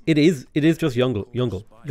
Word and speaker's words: Yongle: a question it's it is it is just younger it's it's younger which is the correct way to pronounce it but it's funny to say jungle um it's funny to me at least all